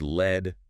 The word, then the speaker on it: lead: And pronounced led rhyming with bed. That's the heavy metal.